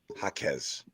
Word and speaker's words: Jaquez: How to pronounce Jaquez. I knew we didn't have it. Jaquez.